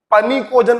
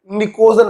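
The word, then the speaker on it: pnictogen: कभी कभी कुछ लोग इसको पनिकोजन पढ़ते हैं, भैया अंग्रेजी है, पी साइलेंट होता है, निकोजन पढ़ते हैं।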